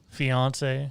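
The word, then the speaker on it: fiancé: Fiance. There we go. Uh-huh. Yeah, just say it like you're saying Beyonce. Wow, what a show we have for you fine gents this morning.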